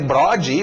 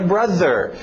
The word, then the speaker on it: brother: inglês com um gringo, e eu chegar para um gringo e dizer brode, ou brother, ele não vai entender isso. Eu tenho que falar a pronúncia certa, que é brother. É estranho, é difícil para brasileiro, porque nós não temos esse TH.